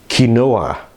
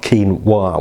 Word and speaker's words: quinoa: It's Spanish derived. It's quinoa or something like that. It's not quinoa.